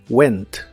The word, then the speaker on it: went: Se pronuncia igual como se escribe. Went, went.